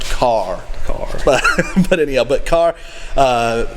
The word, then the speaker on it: Kerr: someone told me that k-e-r-r in north carolinian is pronounced car car but anyhow but car